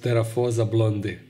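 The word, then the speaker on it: Theraphosa blondi: species are known to cause great irritation like teraa blondi or or sty let me just correct myself it is pronounced teraa blondi they are known for their size but also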